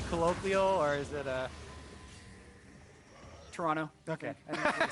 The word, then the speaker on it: Toronto: I was told actually by a tweet it's pronounced Toronto with no uh no T. Oh yeah. Today I learned Toronto.